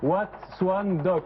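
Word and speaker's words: Wat Suan Dok: Wat Swan Dock. Watchung Dock. Et ça s'écrit comment, s'il vous plaît?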